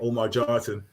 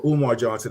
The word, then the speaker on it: Umar Johnson: I'm not going to, I'll say his name, Omar Johnson. He said, or Umar Johnson, I want to make sure I pronounce his name properly.